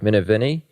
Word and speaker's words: Minervini: already kind of mentioned, Mark, how do I pronounce his last name? Minervini? Mark Minervini?